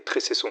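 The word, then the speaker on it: Trécesson: Vous verrez que tout au long de la vidéo, je prononce Trexon alors que la prononciation exacte est Trecesson.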